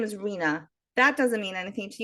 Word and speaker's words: Rena: meaningful meaning when I say my name is Rina that doesn't mean anything to you you might